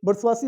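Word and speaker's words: bourgeoisie: और बुर्सवासी, ये इसको कई बार बुर्जुआ पढ़ते हैं लोग, बुर्सवासी इसका शुद्ध उच्चारण है, इसका मतलब होता है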